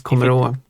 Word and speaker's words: kommer att: So det kommer att. Here's a question for you. Yeah. Why isn't it the combined word? Do you want to combine that as a one word? Kommer att? Usually pronounce kommer å.